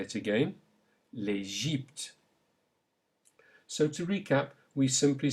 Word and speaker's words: l'Égypte: Now the Y, say l'Égypte. Note the E sound in the middle. Say it again. L'Égypte.